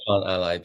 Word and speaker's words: Plantally: I want to say Plantally. It should be Plantally, but I've kind of fused it in the word. I do it as Plantally. Plantally.